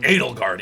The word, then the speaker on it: Edelgard: reception hall are Kill the Edelgard, chandeliers.